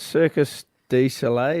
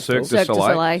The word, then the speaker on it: Cirque du Soleil: I went down to Wayville Showgrounds last night, Circus du Soleil, is that how you say it? It's a Yep, mouthful. Cirque du Cirque du Soleil.